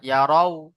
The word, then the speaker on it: يروا: ইয়ারাই বলবেন না, ইয়ারাও বানান করছেন তো আপনি, ইয়ারাও।